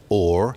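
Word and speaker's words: whore: very simple sound shift the pronunciation of hor as or you'll notice two things about it the H drops at the beginning H often dropped in the in early modern English in that way and you get this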